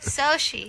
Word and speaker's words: Xochi: We say good morning now to Uh how am I supposed to pronounce this name, guys? They put an Why would you What? Xochi.